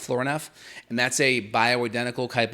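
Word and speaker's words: Florinef: i think it's flooring f is how it's pronounced floor enough and that's a bioidentical type of aldosterone that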